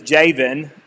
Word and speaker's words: Jabin: But since I have to try to pronounce it right, and his name is Jabin, even though it's with a B.